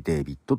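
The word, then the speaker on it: D4VD: ですよねはい D 4 VD と書いてデイビッドと読みますねはい続いて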